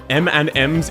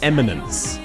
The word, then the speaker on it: Eminence: M and M's in shadow. No. Eminence. It is spelled like this. I know my accent's a bit goofy cuz I'm Australian.